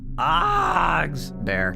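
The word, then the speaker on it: Fazbear: It's pronounced Fozbears? Fogs bear.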